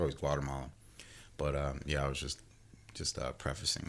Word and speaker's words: Guatemala: Well, you say Guatemalan, right? Well, when you like the actual when you pronounce Guatemala, it's actually Guatemala, right? The actual Kinda Spanish like pronunciation is Guatemala.